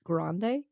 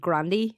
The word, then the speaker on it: Grande: family who pronounced it Grande like apparently how does everybody else pronounce it it's something like Grandy or like she pronounces it basically like the Starbucks like size but apparently that's they